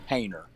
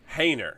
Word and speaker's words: Hoehner: It's Heainner. Heainer. Okay. I thought it was her. And I hear people say Honer all the time and I'm like I don't think that's right.